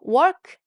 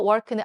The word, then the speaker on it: work: 자, 그래서 work 일하다 work는 R 들어가 있으니까 work, work, work라고 턱이 좀 더 내려가겠죠?